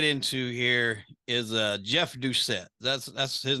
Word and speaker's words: Doucet: kind of get into here is uh Jeff Doucet that's that's his name correct that's how he pronounced it yes okay so he was actually